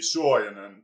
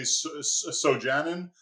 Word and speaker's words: Suojanen: In Finnish, it would be Suojanen, but in English, we pretend there's no U and say Sojanen. And in Spanish, it tends to get pronounced pretty consistently as Suojanen.